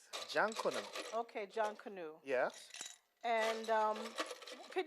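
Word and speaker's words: Jonkonnu: How's it pronounced? Jankuna.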